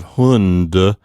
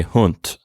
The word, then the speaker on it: Hund: of words like hunt you're going to have to make sure that you pronounce it the way it would be in german often in an unvoiced or voiceless way instead of the way you're accustomed to saying it as an english speaker so instead of hund you'll say hunt okay so so pay